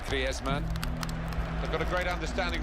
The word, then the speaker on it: Griezmann: Said he talks to his dog in Spanish and dreams in Spanish, so I think we can pronounce his name the Spanish way, Griezmann.